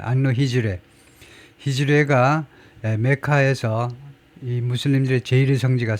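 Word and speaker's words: Anno Hegirae: AH는요. 안노해즈레 앤노 앤노히 정도일 겁니다. 발음이야. 안노 히즈르.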